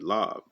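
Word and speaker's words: לב: That's your mind, your lob. That's how you say it in Hebrew, the la and the ba.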